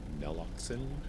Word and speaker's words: naloxone: Naloxone.